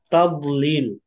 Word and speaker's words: تضليل: তবে একটা শব্দ আছে এখানে, যে তাদলিল। এই শব্দের ক্ষেত্রে দদের মাখরাজ টানার সময় আমাদের ঠিকমতো উচ্চারণ হয় না। কেউ তাদ এভাবে কলকলা করে, এখানে কিন্তু কলকলা হবে না।